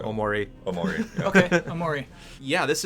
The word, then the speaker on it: Omori: What's the emphasis on? Omori or Omori? I mean, technically there shouldn't be any emphasis. It would all be pretty much so. Omori.